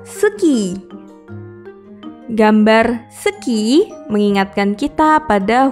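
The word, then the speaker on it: スキー: Ski dalam bahasa Jepang adalah suki.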